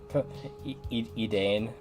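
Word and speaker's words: Edain: Edane. That's how they pronounce it on the wiki.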